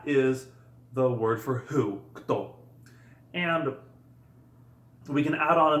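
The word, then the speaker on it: кто: It is pronounced kto.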